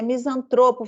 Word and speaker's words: misantropo: é a língua materna eu falo é misantropo ou misantropo e qual é a pronúncia correta é misantropo filantropo tô só para